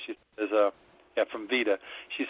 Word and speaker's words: Vida: relations here at vida it's spelled v-i-d-a so i keep wanting to pronounce it vida but it's pronounced veda anyway we specialize in